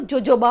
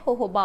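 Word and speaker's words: jojoba: उसका स्पेलिंग होता है, और जो हम पढ़ते हैं इंडिया में तो जोजोबा ऑयल बोलते हैं, लेकिन उसका रियल प्रोनाउंसिएशन है होहोबा ऑयल, तो वो भी आप डाल सकते हो।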